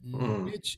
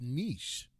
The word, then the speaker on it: niche: Yeah, but they came out and said that niche is not the right pronunciation of it. It's niche.